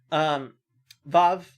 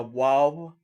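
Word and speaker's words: וָו: Vav, some people will tell you that this is a waw. Honestly, in modern Hebrew, almost nobody makes that difference.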